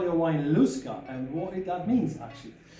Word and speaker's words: Lusca: Irish for Lusk is Lusca. It's very simple. It's a nice, simple two-syllable word.